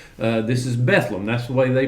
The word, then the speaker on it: Bethlehem: And that is the way you say it, Bethlehem, not Bethlehem like we read it in the Bible. This is Bethlehem.